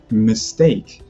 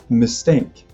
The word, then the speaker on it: mistake: It's not mistake, it's mistake. Just like if you had a steak.